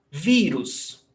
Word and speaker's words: vírus: Vírus, paroxítona, stressed syllable before last, termina em US, pé, vírus.